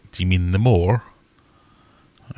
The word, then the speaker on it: Moor: it spelled and pronounced if you're from Sheffield you say that more the word is spelled m-o-o-r so I got on